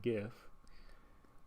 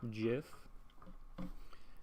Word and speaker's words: GIF: other so i think gif is in the large majority because the g stands for graphics and so there people are confused as to why it makes the j sound but on the and